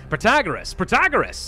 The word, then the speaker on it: Protagoras: Protagoras, that's the way you do it, so we can all stop yelling at me now.